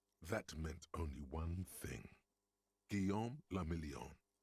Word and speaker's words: Guillaume la Million: For Revachol, your city, that meant only one thing: Guillaume la Million. If it doesn't rhyme, you're not pronouncing it right.